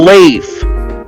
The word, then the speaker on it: Leif: lift the edgy Alphonse I know he's pronounced Leaf but I think Lyft sounds better because they're different differentiates